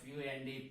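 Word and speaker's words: Pfund: So all higher possibilities to fifth orbit, that is the Fund series, FUND, P is silent here, Fund series or front lines.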